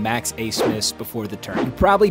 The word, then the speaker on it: Abmas: heard the name max a smith before the turn you probably don't know where oral roberts is or that the b in his last name is silent max is used to